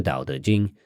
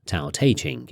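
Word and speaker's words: 道德经: And incidentally, that Dao is the same Dao used in Taoism and the book, the Dao De Jing, sometimes pronounced Tao Te Ching in the West.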